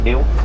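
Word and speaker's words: gnu: That name is spelled G nu pronounced new.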